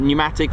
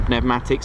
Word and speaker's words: pneumatics: It's a different mechanis pneumatics or pnematics, depending how you want to pronounce it.